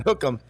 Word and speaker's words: hook 'em: my advisor hook them it's it's two words but you pronounce it as one hook them and you do this